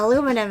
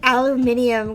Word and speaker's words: aluminium: to get it h aluminum is a bit I've always fought with with British people over this one I hate aluminium go